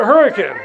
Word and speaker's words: Hurricane: a city in southern Utah spelled hurricane we pronounce it hurricane right for no reason at all and sometimes